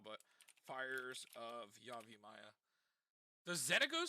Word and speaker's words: Xenagos: So, Xenaghost? Zen Ghost. No, not that one. It's Xenagos. That's how you spell it.